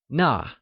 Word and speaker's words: 那: That translates as 那, which is also pronounced using the falling tone. Try and say 那. It's like 那.